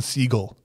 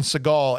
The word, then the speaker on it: Seagal: the whole matter is his name is actually pronounced Steven seagull that was his given name he changed it because he thought it sounded cooler to say Steven Seagal after he got uh like some bad press